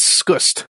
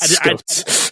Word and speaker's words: Scust: It's Scust. Yes, I Scust, think not Scots.